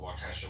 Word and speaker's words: Waukesha: I'll just give an example of, I brought up March 1st in Waukesha, Wisconsin.